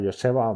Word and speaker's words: Joseba: Joseba, sí, bueno, Joseba se escribe y se pronuncia Joseba, muy majete.